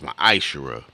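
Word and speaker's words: מעשר: 18:21 Malachi 3 8-1 it means 10th in the Hebrew and it's pronounced my isera a tenth of every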